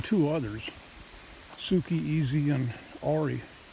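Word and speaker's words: Auri: have only been two others Suki easy and Ori it's spelled a-u-r-i we got as a puppy golden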